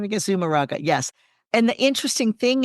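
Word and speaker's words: Zumárraga: the bishop and everyone that was there, Bishop Zaramuga, I can't remember, I can't say his name. Anyway, it's just so powerful. And Zumaraga. Zumaraga, yeah, I was like, how do you say that name again? Zumaraga, yes.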